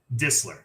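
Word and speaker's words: Distler: last one for me disler it's like it's like whistle the T is like Barely There gotcha and she is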